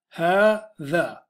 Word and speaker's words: هذا: So, ha-tha. This is how you're going to say it, this one.